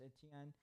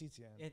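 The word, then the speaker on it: Etienne: say for the Travis etn I said it wrong again etn no Travis eten eten yeah he has a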